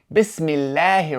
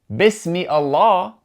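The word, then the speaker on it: بسم الله: going to connect to that word with no pronunciation of the hamza. So, for example, in the very beginning, we see Bismillahir Rahmanir Raheem, and we see three examples of an alif with that symbol written above.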